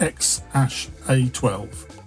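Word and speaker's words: X Æ A-12: musk's newest progyny it's it's written as a collection of strange letters and it's apparently pronounced X Ash a12 all it's going to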